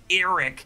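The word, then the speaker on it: Arryk: my authority sir aric now I know aric and Eric are really just meant to be homophones they're both pronounced Eric but I just pronounce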